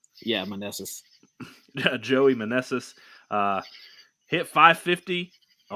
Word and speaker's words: Meneses: Meneses? Yeah, Meneses.